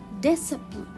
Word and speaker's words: discipline: it comes after letter s discipline sorry discipline discipline so here i will not read letter c